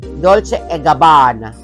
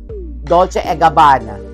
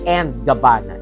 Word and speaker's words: Dolce & Gabbana: Yung Dolce & Gabbana, the correct pronunciation is Dolce & Gabbana. Okay, repeat after me. Dolce & Gabbana. Ayan, not and Gabbana. It's & Gabbana. Dolce & Gabbana.